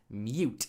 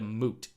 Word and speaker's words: moot: to be raised we use it as mute instead of moot so when we think of it as mute it's silent it's something we shouldn't be discussing it's actually moot m-o-o-t even people who